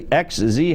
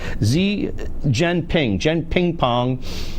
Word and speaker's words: Xi Jinping: The guy, I don't say XZ, how do you say it? Xi Jinping with shrimp is what I had last night.